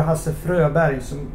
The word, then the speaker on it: Fröberg: I mean, for instance, Hasse Froberg or Hasse Fröberg, which is the way you pronounce it in Sweden, in Swedish, together with Musical Companion, it's totally awkward and everything.